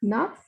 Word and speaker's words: neuf: This is pronounced as naf. Whenever a word ends with C, F, and L, we have to pronounce that word completely.